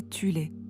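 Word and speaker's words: Thule: une société secrète occulte appelée Society parfois prononcé Tulé qui comptait des sous-factions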